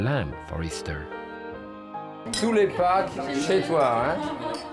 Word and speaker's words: Pâques: Tous les Pâques chez toi, hein? The French word for Easter is even Pâques, and it's spelled P-A-Q-U-E-S, like Jacques, with a P.